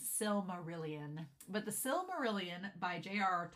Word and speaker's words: Silmarillion: When I was a kid, and I thought it was Silmarian when I was a kid, but my Western rural self ain't good at pronouncing things, knows it's Silmarillion.